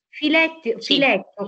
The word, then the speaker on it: filet: Filetto, come si pronuncia esattamente? Perché l'ho pronunciato male, secondo me. Quello lì viene pronunciato alla francese, filet.